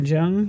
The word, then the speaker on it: Zheng: If you're just joining us, we have the one and only Cindy Zheng here.